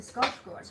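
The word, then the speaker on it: Skarsgård: don't want to say Skarsgard I want to say scar scores because that's how it's pronounced but you know if I say that and people don't speak Swedish 34.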